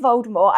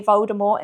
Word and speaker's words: Voldemort: Yes, I said Voldemort. Apparently we've all been saying it wrong, and I'm trying to train my brain to say Voldemort instead of Voldemort.